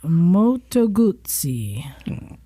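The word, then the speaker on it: Moto Guzzi: Moto Gutsi.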